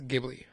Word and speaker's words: Ghibli: I believe it's Ghibli.